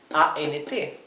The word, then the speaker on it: ant: Esto es ant y esto es aunt, ¿sí? Es como más cerrada la palabra para tía.